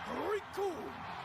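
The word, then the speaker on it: Recoome: The name's Rikum. It rhymes with doom.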